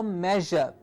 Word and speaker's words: measure: that's the sound for measure while producing the sound say the sh so you will get the target sound of je this is one that